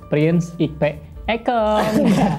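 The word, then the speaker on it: Prince Ikpe Ekong: Nigeria prins ikp ekong kalau dibacanya itu adalah princep ekong ekong itu dan nah pada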